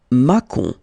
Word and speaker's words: Macon: Macon. Bacon! That's it.